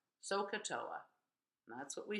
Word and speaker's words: SOHCAHTOA: And we pronounce it like a word. SOHCAHTOA. SOHCAHTOA.